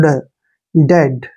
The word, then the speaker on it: dead: हम next and last देखते हैं, सो इजी है, DEAD, सभी को पता है डी का उच्चारण डे करेंगे, EA को हमने यहाँ पर ए की मात्रा पढ़ना है और डी को ड, डेड, ऐसे, डेड। डेड क्या होता है, मरना या मृत्यु, ठीक है।